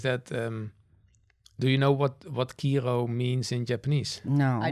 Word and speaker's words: Kiiroo: But obviously in English, when you have one, in Dutch we say like Kiiroo, double O, you pronounce like an O, but in English it's obviously one O, you pronounce like an O, right?